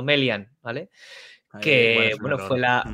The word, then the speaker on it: Melian: melian que por cierto lo pronuncian mal porque que yo sepa no no es melian que es como dice como dice sino melian vale que bueno fue